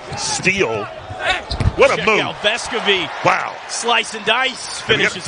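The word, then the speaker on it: Vescovi: We got to make sure we say it right, right? That's right. Vescovy. Vescovy. We'll have more on that with Casey Funderburg. But, yeah, pronunciation Vescovy, that's what we're going with here.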